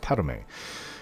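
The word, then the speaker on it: Padhome: many years it's spelt pad home but it's pronounced padme feel uplifted in thine heart that you have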